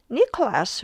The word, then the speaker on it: Nicholas: But Nicholas will be just Nicholas because the stress is at the beginning.